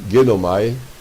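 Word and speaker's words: γεύομαι: Em Hebreus 6,4, a frase, havendo provado o gosto, o verbo tem aqui, em grego, se vou dar por escrito, a pronúncia é genomai.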